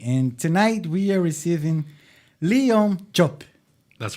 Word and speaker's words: Leon Diop: This episode is number 220, and tonight we are receiving Leon Diop.